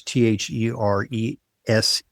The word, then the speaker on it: Therese: So is t h e r e s e sometimes uh you know pronounced uh European way but it's theres here.